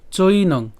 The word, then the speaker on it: চৈনং: এরপর চৈনং, চৈনং ঐকার আছে বিধায় সেজন্য চৈ উচ্চারণ হচ্ছে, তাহলে চৈনং। এরপর নিত্য, নিত্য কেন?